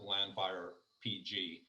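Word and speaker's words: Llanfair PG: there that's the nickname so everyone calls it landfire pg but i've heard people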